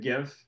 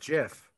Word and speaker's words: GIF: the entity said oh is it gif no it's jeff it's pronounced jiff i don't care i